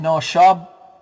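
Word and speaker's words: נָשַׁב: And it's pronounced noshab, and it means to blow.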